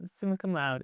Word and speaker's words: summa cum laude: And you were, I think I'm going to mispronounce this. It's summa cum laude, right? Yep, summa cum laude.